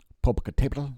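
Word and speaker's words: Popocatépetl: in imagery there of popocatepetl popocatible i believe it's pronounced in central mexico there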